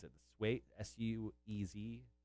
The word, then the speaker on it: Suez: your favorite thing the uh how do you pronounce it this weight s-u-e-z swayze canal oh suez yeah it's uh it has